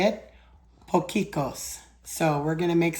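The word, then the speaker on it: potjiekos: And it's I found out how to say it, pokeos.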